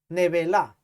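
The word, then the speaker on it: נבלה: mortecina comeréis, pero esta palabra en hebreo dice neveila, Nevela, nevela. Lo estaba pronunciando mal.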